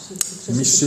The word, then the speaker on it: Michée: Michée 6.8. Hein? Ça s'écrit comment?